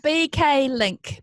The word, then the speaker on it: BKLNK: It's called BK Link, but it's spelt BKLNK, so it hasn't got the I in it.